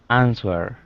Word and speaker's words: answer: and then with answer we don't pronounce the w answer close it's more like